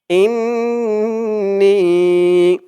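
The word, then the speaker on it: إِنِّي: এখানে হুম্মা আল্লাহুম্মা আল্লাহ ইন্নি ইন বলে গুনাহ করতে হবে নি বলে টান দিতে হবে ইন্নি আল্লাহুম্মা ইন্নিলামতু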